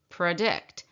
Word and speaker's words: predict: predict. That would be that an example of that schwa sound because the p r e in predict is the softer or the unacented part.